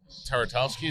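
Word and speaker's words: Tartakovsky: Taratowski, is that how you say it?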